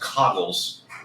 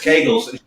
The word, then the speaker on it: Kegels: I stole it from It's Always Sunny in Philadelphia, but the Zero goes, it's not Kegels, it's pronounced Coggles. And I was like, no, 100% it's Kegels.